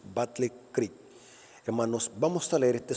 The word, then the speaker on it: Battle Creek: de soñó estando en Battle Creek así se pronuncia Battle Creek hermanos vamos a leer este sueño que está